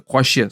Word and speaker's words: койще: Я называю просто это коще сразу, типа коще. Да, она реально как-то при разговоре вообще не слышится. Мы все говорим коще, барма, коще китер, коще кирек. А пишется вот из 5 букв.